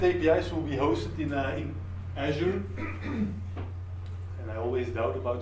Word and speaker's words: Azure: The backend APIs will be hosted in Azure. And I always doubt about the pronunciation, but I just checked with the Microsoft MVP that Azure is the correct pronunciation.